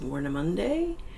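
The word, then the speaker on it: Warnemünde: We are in, I think it is pronounced Warnemunde.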